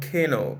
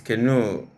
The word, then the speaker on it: canoe: to do verbs example the word is not que no it's canoe it's a now but